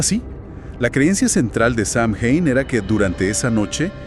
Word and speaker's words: Samhain: Ah, Samhein, sí, he oído mencionar ese nombre relacionado con Halloween. ¿Qué era exactamente este festival? Samin se pronuncia algo así como o se.